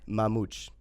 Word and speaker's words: Mamute: Say it slower. Mamute. It's Portuguese.